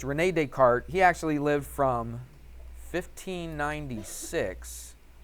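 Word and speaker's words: René Descartes: Renee Decart. It's got a S on there, but in France, I guess they don't pronounce the S. So, it's Renee Decart.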